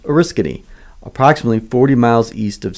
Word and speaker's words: Oriskany: Our headquarters are located on 20 acres in upstate New York in a town pronounced Oriskany, approximately 40 miles east of Syracuse and 90 miles west of Albany.